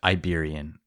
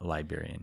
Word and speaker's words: Iberian: Iberian. Iberian lynx, not Liberian.